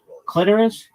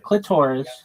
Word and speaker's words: clitoris: clitoris, not clitoris. It doesn't rhyme with the sorus. It rhymes with almost like icorus clitoris and um there are some people and menstruation.